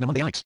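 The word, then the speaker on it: mnemonics: Pneumonics pronounced nomics named after the personification of memory in Greek mythology.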